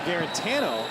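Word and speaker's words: Guarantano: Quarterback Jarrett Garantano has informed the media that we've been saying his name wrong this whole time.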